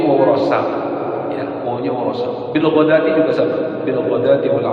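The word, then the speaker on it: بالغداة: Kemudian dalam kalimat bil ghadati ayat terus ya awas bil ghadawati gitu. Bil ghadawati. Nah, bacanya yang benar bil ghadati.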